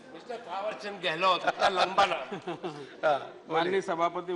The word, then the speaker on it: थावरचंद गहलोत: या mister mister minister थावरचंद गहलोत। ये नाम सही लिया आपने। Correct pronunciation, mister थावरचंद गहलोत, इतना लंबा नाम।